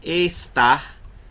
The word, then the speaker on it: estar: Mas quando você fala a palavra estar, o tar é mais forte.